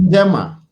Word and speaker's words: Njema: second word is Njema, and that's the Kiswahili translation of Better Days. How do Yeah. you say that? Siku njema.